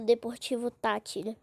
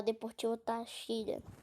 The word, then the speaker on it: Deportivo Táchira: Ah, sei lá, não ligo muito pro Deportivo Táchira. É errado falar Deportivo Táchira, mas na verdadeira pronúncia é Deportivo Táchira.